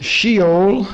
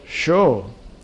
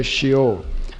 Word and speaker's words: Sheol: deal with some terms not pronounce sheol as it is in some of the versions but show but since no one would know what you're talking about i guess you'll have to say shio if you talk to hebrew